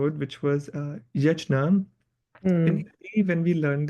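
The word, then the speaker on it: यज्ञ: But in case of this word, the pronunciation will be yajna, yajna. So first of all, there are different representations. If we say yagya, that is also wrong. I mean, people can pronounce it and like other people are understanding what they are trying to mean, but that's not the correct pronunciation. Yagya is wrong.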